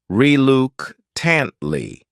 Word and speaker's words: reluctantly: next word is reluctantly this word has four syllables and the stress is on the second syllable reuke tantly the third syllable also has that schah sound reuke tantly what what